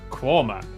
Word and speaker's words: Quernmore: Mousehole, Next, travel north up to Towcester, Toaster, then a quick jaunt to Gotham, Gotham, followed by a stop in Quernmore, Quorma, before finishing up in Alnwick.